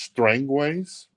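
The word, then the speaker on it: Strangeways: a store named Matt says it's it's pronounced strangways I'll take his word for it strangways here we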